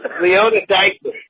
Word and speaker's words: Leonoudakis: John Leonoudakis, and as much as I tried, I'm sure I didn't pronounce it 100% correctly. You fucked it up, Ralph. You fucked it up, okay? Well, it's Leonoudakis.